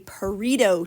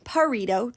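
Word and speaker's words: Pareto: Number four is a parrito chart. Not a burrito chart, but it's kind of pronounced the same way. Parrito chart.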